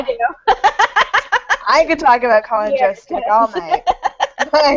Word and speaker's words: Colin Jost: I could talk about Colin Jost's dick all night.